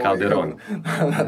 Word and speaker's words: Calderona: Calderona, pazi, mi smo sad na JKK, moramo pazimo o akcentima. Calderona.